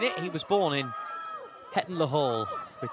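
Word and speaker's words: Hetton-le-Hole: He was born in Heton La Hall, which is how the locals say it.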